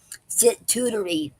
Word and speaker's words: sitooterie: And today's word is situtory, and it's spelled Sitooterie.